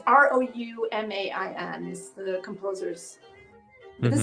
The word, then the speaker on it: Roumain: this is a piece by Ruman. Oh, now I'm pronouncing his name wrong. Oh no, that's not good. Anyway, it's the Parks Quartet. It's in honor of Rosa Parks, and this is Roumain.